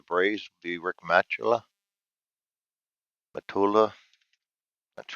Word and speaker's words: Matula: ninth for the braves would be rick matula matula that's right how you pronounce that and that brings us to the